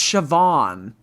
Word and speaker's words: Siobhan: How is it pronounced Siobhan? Siobhan. That's BH is V in Gaelic. It's Irish.